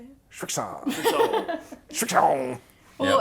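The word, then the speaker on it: Srixon: Strixon.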